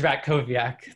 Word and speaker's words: Ratkowiak: It is Ratkowiak. The W sounds like a V.